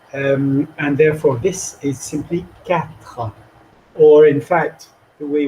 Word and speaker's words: quatre: The R is very soft. Quatre. But do not emphasize the second syllable. Quatre.